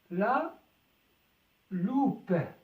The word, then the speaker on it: loupe: la loupe la loupe العدسة المكبرة la loupe. لماذا نطقنا هنا الب وهنا لم ينطق؟ لأن هناك أ بعد البي وتكون حرف صوت.